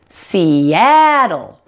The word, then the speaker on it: Seattle: show you very quickly how to pronounce the dark L so you can say it in Seattle here so what I